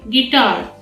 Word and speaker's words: guitar: Next one is guitar. Here the I is silent.